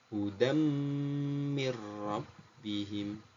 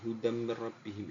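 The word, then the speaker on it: هُدًى مِّن رَّبِّهِمْ: Hudam ini bacaan idgham bi gunnah. Mir rabbihim ini bacaan idgham bila gunnah. Di sini sangat jelas perbedaannya anak-anakku, cara membacanya sama-sama masuknya. Yang satu dengan mendengung, yang satu tanpa mendengung. Pak Bahrul ulangi lagi.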